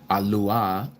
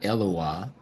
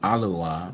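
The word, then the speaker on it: אֱלוֹהַּ: So here H433 again alua not elawa but alua.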